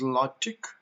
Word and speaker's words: LaTeX: Today we are going to learn about a very modern software that is called LaTex. Sometimes it is pronounced as LaTeX, and at different places, different people pronounced it LaTeX.